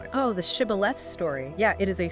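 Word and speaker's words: Shibboleth: person crossing the river pronounce the word Shibth. But the Ephrait's native dialect didn't have this sound. They physically could not say it. They said Cibth.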